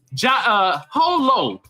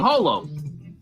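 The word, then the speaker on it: Jho Low: Prosecutors accused Pras of orchestrating a back-channel foreign lobbying campaign that benefits Holo. The J is silent, y'all. That's how you say his name, Holo.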